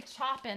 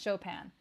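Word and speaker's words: Chopin: my stream that's one thing you got to pronounce right and then you can't say choen either that's really bad I think most people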